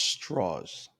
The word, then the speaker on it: Strauss: because you see um Le Strauss talking in one scene it's pronounced straws straws excuse me you're correct you see